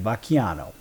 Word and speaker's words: Vacchiano: We'll say it right, Vacchiano.